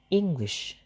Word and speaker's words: English: So the word English has two syllables, that is in, English. The first syllable, that is in, is stressed, while the second syllable is glish, is distressed or unstressed.